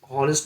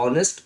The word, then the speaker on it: honest: H silent वाले शब्द देखेंगे, HOUR, हावर ना हो क्या होगा आवर, आवर मैंने घंटा, HONEST हॉनेस्ट, हॉनेस्ट ना हो क्या होगा ऑनेस्ट, ऑनेस्ट मैंने ईमानदार, HONOUR हॉनर मैंने ना हो क्या होगा ऑनर, ऑनर मैंने सम्मान।